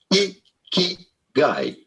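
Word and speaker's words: 生き甲斐: How do you go about pronouncing it? Ikigai.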